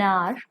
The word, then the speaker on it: hour: Look at the example: an hour, an honest servant, an honorable man. In these words you can see H is silent, so they also begin